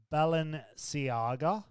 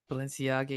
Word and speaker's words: Balenciaga: at eurovision wearing let's see if i can pronounce it's right there's sneakers they're called ballon ciaga balenciaga yeah yeah so they're kind of like really